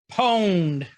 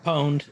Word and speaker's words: pwned: Pwned. Pwned. Pwned. Pwned. Pwned. Pwned. I like your version better. Yeah. Oh, you got pwned. You got what? Yeah. You got It's owned.